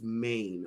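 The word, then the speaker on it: mien: the word of the week this week is main okay it's spelled m i n m all right and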